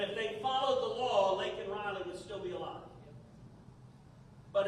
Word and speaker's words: Laken Riley: Laken Riley, someone we're all familiar with now. I can't pronounce her name. He can't. He thinks she's Lincoln Riley, which is a football coach in California.